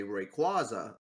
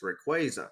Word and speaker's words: Rayquaza: I mean I mean yeah like I said um I would normally say Rayquaza when I when it was introduced and now I had been corrected to it's Rayquaza.